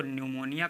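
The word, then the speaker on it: pneumonia: निमोनिया disease start है लेकिन यह पी जो है यहां पर साइलेंट है इसलिए पढ़ा नहीं जाएगा तो इसको निमोनिया कहेंगे निमोनिया का मतलब निमोनिया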